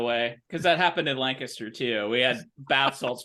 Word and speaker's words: Lancaster: Lancaster uh you can it rhymes with scan skank Caster right so Lancaster skank Caster that's how you know it's Lancaster we don't have Amish